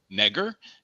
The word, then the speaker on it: Nager: two different ways um in the us we usually pronounce it with a hard a so it's negr and then in germany we say nagar so what's your preference today uh nagar's fine it rhymes with lager it's easy there you